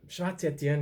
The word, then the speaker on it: Schwarz Etienne: Schwarz Etienne is Schwarz is German, Etienne French as a name.